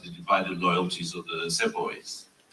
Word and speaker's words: Sepoy: You're talking about the divided loyalties of the Sepoys.